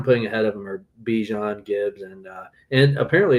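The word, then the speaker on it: Bijan: Um and the guys I'm putting ahead of him are Bejon Gibbs and uh and apparently it's pronounced Bjon. I saw that he corrected some people this week. Um, so Bjon and uh and Gibbs and uh Genty, those are my top three.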